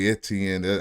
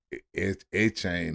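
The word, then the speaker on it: Etienne: I know we like to say Etn. I still like to say that but he say you pronounce it echane or some you know cool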